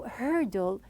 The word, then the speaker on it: hurdle: Now, when I pronounced it at the very beginning and I said it is like a heavy word because the R is a heavy sound. So hurdle, some people, they face hurdles.